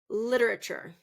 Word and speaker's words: literature: Literature literature and I want you to stress the first syllable.